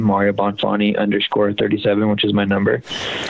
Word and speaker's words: Bonfante: Mario? Bonfante.